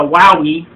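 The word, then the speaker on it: Huawei: with it uh you the uoi or as my friend says the wowie spell h-u-a-e-w-i i think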